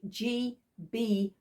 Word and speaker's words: GeeBee: check here it is a g b dolls house and that is spelled g-e-e-b-e-e literally um mid-cent sort of